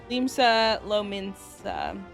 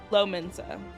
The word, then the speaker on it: Limsa Lominsa: Limsa Lominsa is how it's said. I think. Probably. It's Lominsa. Lominsa. Yeah.